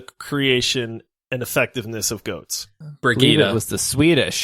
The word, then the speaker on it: Brigitte: Yeah, it's Brigitte. We'll allow Bridget, and I've heard so Baguette. There's so many pronunciations. They're all valid.